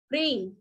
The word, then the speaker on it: ह्रीम: Take a screenshot, ह्रीम, इसको pronounce करेंगे ह्रीम, ह के नीचे र निकला हुआ है, ठीक है, और म के लिए बिंदी लगी है, ह्रीम।